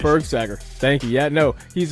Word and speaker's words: Bergsager: to have is it Berg sagger it's Berg sagger good pronunciation Berg sagger thank you yeah no he's a cro Powerhouse